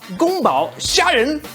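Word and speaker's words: 宫保: cone power shrimps which in chinese will be pronounced as gumbao it is by far the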